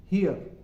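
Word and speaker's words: here: students जो words है एच एच ई ए आर और एच ई आर ई इन दोनों का उच्चारण एक ही तरीके से होगा ट्रांसक्रिप्शन एक ही तरीके से होगा इन्हे हम बोलेंगे हियर हियर हियर यह नहीं आएगा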